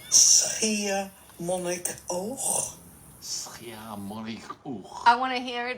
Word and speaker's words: Schiermonnikoog: Schiermonnikoog. No, and you felt that I got it right. Schiermonnikoog. Schiermonnikoog.